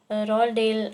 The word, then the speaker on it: Roald Dahl: See, the name of the writer can be pronounced as you can see in the bracket. Phonetic transcription is there in the bracket. Roald Dahl, which can be pronounced as it is.